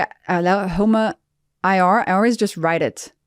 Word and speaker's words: HOMA-IR: HOMA-IR. HOMA-IR. That's how you say it.